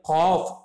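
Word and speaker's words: قاف: காஃப், தொண்டையில் வந்து நல்லா சொல்லணுங்க. காஃப் காஃப் காஃப் காஃப்.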